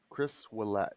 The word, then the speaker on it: Ouellette: Ouellette? Chris Ouellette. Chris So Ouellette. it's like a W.